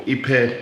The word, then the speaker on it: ipe: So this is what's known as ipe, or ipe in Spanish, that's at least how they pronounce it here.